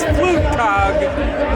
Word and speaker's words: Flugtag: of this video, but the actual pronunciation is Flugtag, which means flying day in German.